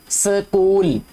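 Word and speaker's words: school: स्कूल ऐसे लगता है कि जैसे SCOOL, कूल होता है ना, जैसे कूल, एस स्कूल, COOL कूल होता है ना, जब एस लगाएंगे तो स्कूल हो जाएगा।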